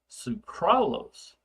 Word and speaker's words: sucralose: Sucralose, and I'm exaggerating the pronunciation of that, okay, is like an almost an artificial sweetener.